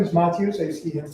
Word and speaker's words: Matyos: for my benefit uh yeah my name is matus I see him pronounced and as Yan said I'm a community